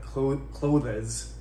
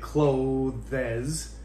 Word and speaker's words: clothes: th and another syllable but there's there's only one syllable so as soon as you say clothes yeah whoever's listening if